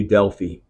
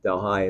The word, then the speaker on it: Delhi: here in India near New Delphi or New Delhi Delhi is how you say that New Delhi so there